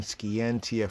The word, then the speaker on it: scientia: Latin scientia right scientia Martin pronunciation skientia from skierre sciary scary almost sounds scary that's why science does